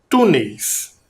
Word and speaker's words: túneis: Outra palavra, túneis. Vamos separar também 2 sílabas. A última sílaba é neis e a penúltima, tu. Túneis. Identificou a sílaba tônica? Túneis. Também está aqui, indicada por um acento.